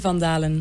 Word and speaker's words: Van Dalen: Yo dije que era Van Dalen o Van Hirt. Casi. Exacto. ¿Cómo se pronuncia tu apellido? Elise Van Dalen. Van Dalen.